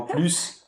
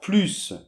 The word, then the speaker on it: plus: Alors, après, quand "plus" est utilisé pour la négation, à ce moment-là, on ne prononce jamais le S.